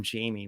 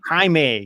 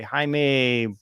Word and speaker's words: Jaime: this is what I keep on calling him Jamie. What's his name again? Jaime. Yeah, okay. Jaime. Spelled Jamie, pronounced Jaime.